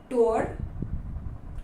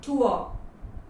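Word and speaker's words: tour: rejuvenate feel होता है उसे कहते हैं टूअर नॉट टूर टूअर the next word word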